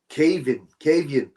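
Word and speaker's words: Caoimhín: I found out how to pronounce his name. It's not Cayman. It's Cavian.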